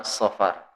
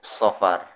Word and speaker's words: Safar: Kalau yang pertama Muharram, kedua Safar, pakai sod, bukan pakai sin. Jadi bacanya itu Safar, bukan Safar. Ya, kalau Safar tuh pergi, berpergian tuh Safar. Tapi kalau bulan itu Safar, ya pakai huruf sod.